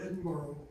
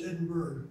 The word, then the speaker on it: Edinburgh: Why is it that we all say Edinburgh? When you read it, it's Edinburgh.